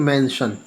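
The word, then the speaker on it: mention: एस का शा उच्चारण देखिए, मेंशन। जब भी TION एस के साथ आएगा तब इसको मेंशन पढ़ेंगे, है ना।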